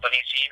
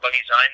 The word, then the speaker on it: Bunnyzine: magazine I did initially intend to call it Bunny zene and it wasn't until you called it bunny zign but I went I love that I love